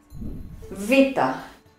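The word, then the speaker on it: βήτα: Just listen how beta is pronounced in modern Greek. Vita.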